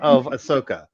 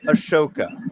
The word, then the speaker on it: Ahsoka: hear me call her Ashoka because Asaka unlike some of her fans, I actually know that the H comes before the S.